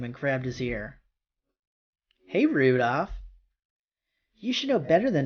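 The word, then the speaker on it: Rudolf: Anyway, this guy's name is pronounced Rudolph, named after the red-nosed reindeer.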